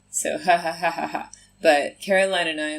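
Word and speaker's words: jajaja: AJ AJ right mm-hmm because the J is pronounced like I said so hahahahaha but Caroline and I like we both thought for some reason yeah it's pronounced ja ja ja ja ja ja ja sober like a week we were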